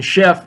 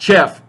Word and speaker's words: chef: Chef. The CH there in chef is pronounced like SH. Sh, not chef, but chef.